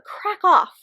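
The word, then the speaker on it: Kraków: doll maker of krakow which i've learned is actually how it's pronounced uh by r.m romero there's actually a little like i don't know accent thing over the o so i just have been saying it wrong the entire time this one ends up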